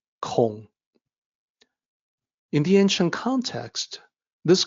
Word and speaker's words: 孔: K and be careful it is not pronounced Kong like King Kong it's an o sound Kong in the ancient context